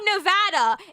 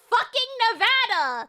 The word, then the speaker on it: Nevada: bit in Nevada and in the area around Nevada, it's Nevada. You don't pronounce it RKS, do you?